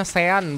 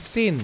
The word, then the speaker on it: Sean: Louis bacanya kayak orang namanya Sean, bacanya bukan Sin tapi Sean.